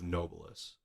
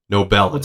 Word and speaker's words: Nobilis: and the complexity of nobleus nobel sorry yeah we're all going to have to get used to pronouncing it that way now we can just